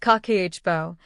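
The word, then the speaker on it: kakeibo: The first Japanese habit is called Kikibo. Pronounced kakiichibo, the word roughly translates to household financial ledger.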